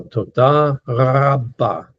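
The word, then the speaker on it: תודה רבה: But the Hebrew R is a little bit unique. It's a little bit like a French R. The French pronounce the R back towards the back of the throat also.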